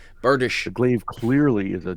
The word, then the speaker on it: bardiche: No, it was one of those books that taught you how to say the word bardiche. Yep, it's a bardish.